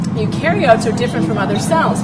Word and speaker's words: eukaryotes: It's pronounced eukaryotes.